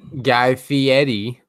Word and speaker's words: Guy Fieri: ] like barbeque lasagna it's actually Guy Fieri Guy Fieri so get your pronunciations of respect his age